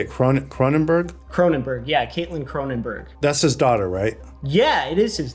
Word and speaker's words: Cronenberg: Cronenberg?